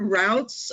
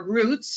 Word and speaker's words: routes: And the word routes, or routes, it's sometimes pronounced in English, it means pathway, it